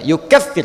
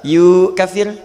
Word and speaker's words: yukaffir: katakan Sayu kecil tapi Allah katakan you kefir Hai yuk FC hai awas di acara bacanya you kefir cepat awas jangan salah yukaffir Soalnya usah keliru imam-imam